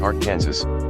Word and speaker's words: Arkansas: expected and then there's Arkansas City a small town in Kansas pronounced Ark Kansas or just Ark City